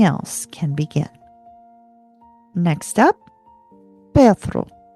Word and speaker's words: Perthro: Next up, Perthro.